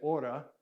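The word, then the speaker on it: ὥρα: this word is aura it actually has the rough breathing so in kind of a traditional pronunciation you put an H on it so but we're going to say Ora and that's where we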